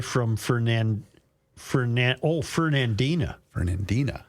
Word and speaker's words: Fernandina: Fernandina. I have been pronouncing it wrong. Fernando. That's not Fernandia. It's Fernandina.